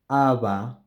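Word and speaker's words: haba: I am I am again producing the same sound for both of these and this sound is softer than the bilabial sound Ava lava you may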